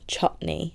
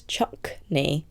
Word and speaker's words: chutney: This is like a really old episode, but Melissa was pronouncing chutney as chuckney with a k in it.